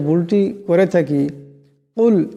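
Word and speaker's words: قل: আমরা বেশিরভাগ মানুষ নামাজের যে ভুলটি করে থাকি, কুল এখানে বড় কাফ আছে, কিন্তু আমরা কুল ছোট কাফে উচ্চারণটি করি। ছোট কাফ দিয়ে উচ্চারণটা করলে উচ্চারণটা শুদ্ধ হবে না, আমাদের নামাজটাও দুরুস্ত হবে না।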